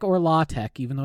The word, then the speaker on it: LaTeX: markdown language called LaTeX, which is spelled latex. Don't worry about it. You don't say the X because it was made by an idiot who gave it a stupid name. But you call it LaTeX or LaTeX, even though it's got an X.